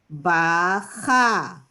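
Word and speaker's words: בכה: Bet, chaf, hey, bacha. Right? Hey is silent at the end of a word.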